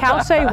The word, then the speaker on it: Cauce: Yeah, well, my name is Cauce, and I work with kids, and so I go Anamari, rhymes with calamari, and Cauce, what does a cow say?